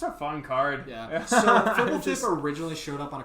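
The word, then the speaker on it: Fblthp: Fibblethip.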